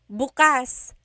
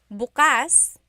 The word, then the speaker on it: bukas: If you say bukas, the emphasis is on the second syllable. That means open. If you say bukas, emphasis is on the first syllable. That means tomorrow.